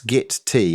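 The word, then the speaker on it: Gitea: of my favorites is git T git T is really easy to set up that's how you pronounce it it's git T as in cup of tea I see I always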